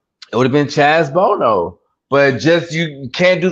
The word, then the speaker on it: Bono: But hey, Chaz Chaz Boner. Bono. Chaz Bono. Bono. Okay. Okay. I was just making sure you pronounce it wrong.